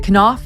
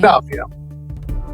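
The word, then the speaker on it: Knauf: Sydney for the Invictus Games, Jason, is it Kenoff? Is that how you pronounce his name? Kof. Jason Koff, who um worked for at for a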